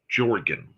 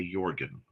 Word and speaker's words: Jorgan: I know an individual by the name of Jorgan. That's how their family pronounces it. However, every time I see him, I have to fight the urge to say Jorgen because it's Jorgen Lightner.